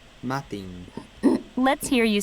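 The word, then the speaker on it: maidin: Madin. Matin. Let's hear you say morning. Madin. Matin. Madin. Yeah, it pronounces it more like a T, I guess.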